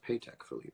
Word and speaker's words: Patek Philippe: Awards as a mirror world's most baller mirror pay tech Philippe is that true it's pronounced paycheck Philippe well I've been seeing